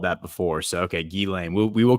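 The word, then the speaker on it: Ghislaine: And you were guilty of it when you did your first one on this channel of calling her Gizlane.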